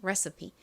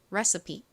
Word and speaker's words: recipe: 가장 끝에 E는 보통 영어 단어에서 헛개비, 묵음으로 소리가 나지 않는데 이 단어에서는 이 E가 이 소리로 쓰였어요. 그래서 이 단어의 발음은 recipe가 됩니다. recipe. 따라해보세요. 요리법 영어로 recipe.